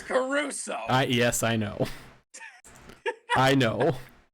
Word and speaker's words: Caruso: more words i'm sorry did you just say alex curacao yes i did because and then alex caruso yes i know i